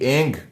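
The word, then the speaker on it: ऐं: एम नहीं बोलना है एंग बोलना है ओम एंग रीम क्लीम चामुंडा विचय सामने वाले का नाम अवसम ए आपको नहीं बोलना है एंग बोलना है ई एन जी एंग इस प्रकार से ओम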